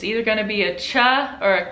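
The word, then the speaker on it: ciao: that's following it so if a c is followed by an iron e it is a cha sound like chao which is spelled c i a o and so we pronounce the c as a cha like cheers in english now if a c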